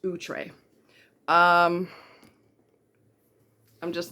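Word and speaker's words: Outré: many years I said outre like everybody else does it's actually a French word and it's pronounced utre um I'm just not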